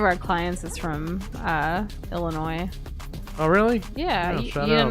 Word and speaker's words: Illinois: Well, why they have the S there. Illinois. Well, they're the ones who name themselves, right? I never heard that. How not? It's spelled that way. How do you not say it every time and have to correct yourself?